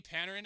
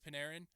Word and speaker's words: Panarin: Artemi Panarin, I've talked about him before, or Panarin, excuse me, again, pronunciation.